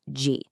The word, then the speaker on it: 時: It's pronounced ji.